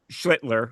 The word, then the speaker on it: Schlittler: purpose so they don't get it right when they It's that first L that's getting me, Job. yep. I cannot get that L in there, so I keep saying Shitler.